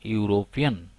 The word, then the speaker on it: European: Here you see the article A has been used before the noun European because the first letter, that is E, though it is a vowel letter, but still it makes a consonant sound.